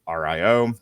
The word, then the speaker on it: RIO: Maverick and Merlin, Kurger's former RIO, are assigned as backup.